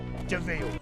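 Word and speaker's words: de Vil: Spelled devil, but it's pronounced devil.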